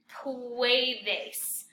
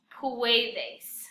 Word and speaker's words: puedes: word is really weird puedes it's almost like poo a days puedes most of you are